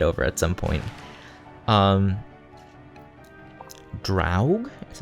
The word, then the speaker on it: Draug: need to get over at some point um drought is how you pronounce his name i have so many combat